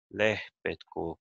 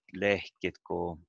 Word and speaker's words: lehpetko: But in the written language, we normally use lehpetko kullan. That's the way we write it. But lehketko kullan is like people say in some villages and places, lehkiko kullan, but lehpetko kullan is the petnaga.